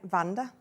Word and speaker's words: Vanda: I mean, I've got a friend called Vanda. It's supposed to be Wanda, isn't it? Oh, but she pronounces it Vanda.